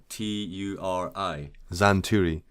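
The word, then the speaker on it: Xanturi: one two three x-a-n-t-u-r-i zan turi so now it looks like it should be spelled with a z exactly yeah yeah but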